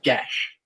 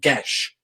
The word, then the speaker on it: geas: let you know geass is actually a celtic word and it's pronounced gesh well it's i think